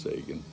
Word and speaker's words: Saggan: Sean you're all dead I believe it's pronounced Sean this is I believe